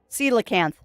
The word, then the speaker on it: coelacanth: Coelacanth is how you pronounce that. Does not look like it's how it's spelled, but it is pronounced coelacanth.